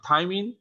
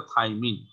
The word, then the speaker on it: থাইমিন: আর থাইমিন 2,4 2 এর জায়গায় oxygen R 5 A methyl, তাহলে 2,4 মিথাইল, 2,4 অক্সি, 5 মিথাইল পাইরিমিডিন।